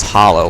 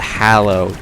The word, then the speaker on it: Hallow: And then they'll say hallow as hollow, like Halloween or the hollow biome, and I'm just like, no, it's the hallow. There's an A in there.